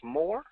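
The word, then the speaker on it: Mohr: I believe I would pronounce this as Moore. Karen, congratulations.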